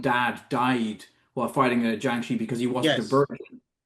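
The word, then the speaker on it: jiangshi: modern day Cantonese film, they very much pronounce it Gyeongshi, not Jyangshi, which sounded closer to Kyonshi to me.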